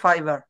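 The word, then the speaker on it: fiber: গ্রোচেরি tomatoes দেখেন এটার মানে হচ্ছে এটা হচ্ছে উচ্চারণ হচ্ছে ফাইবার ফাইবার গ্রো মানে কি উৎপাদন মানে বেড়ে ওঠা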